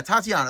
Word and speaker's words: Tatania: Yeah, Tatania, that's how you pronounce it.